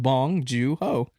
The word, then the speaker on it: Bong Joon-ho: I still don't know how to pronounce it properly. Bong Joon. I know Bong. Yeah, exactly. Just start off with Bong Joon-ho.